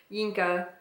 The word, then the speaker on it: Yinka: Her mother, her aunties, and cousins who all want to know, Inca, where is your husband, is how it's pronounced on the back, which feels actually close to French pronunciation of English words because they do not use the H's.